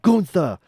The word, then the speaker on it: Gunther: that happened was that gunther was like hey it's pronounced goontha and then the crowd